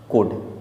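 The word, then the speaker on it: could: next word दिया हुआ हमारे पास कोड, इसे हम कोल्ड नहीं कोड पढ़ेंगे क्योंकि यहाँ भी एल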